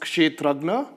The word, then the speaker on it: Kshetrajna: So it is pronounced Kshetrajna.